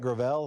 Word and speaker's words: Gravel: I know at least Mike Gravel, that's how he pronounces his name.